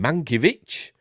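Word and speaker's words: Mankiewicz: while appearing on Max's talking pictures podcast Ben manovich uh don't that's how it's pronounced asked the Wonder Woman director if the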